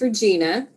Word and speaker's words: Regina: Yes, my name is Regina, and it can be mispronounced to rhyme with the female part of the body.